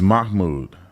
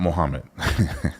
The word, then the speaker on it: Mahmoud: It's Mahmoud, not Mohammed.